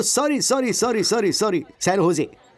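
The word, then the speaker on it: San Jose: Oh sorry sorry sorry sorry sorry, सैन होजे, SANJOSC, इसकी spelling यही है ना, लेकिन इसमें जे साइलेंट रहता है, इसलिए इसे सैन होजे बोलते हैं।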